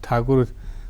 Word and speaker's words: ठाकुर: जुड़ाव था, जहाँ से जैसे रविन्द्रनाथ ठाकुर उनका नाम है, लेकिन अंग्रेज ठाकुर उच्चारण नहीं कर पाता था तो उसको टैगोर कर दिया, समझ गए।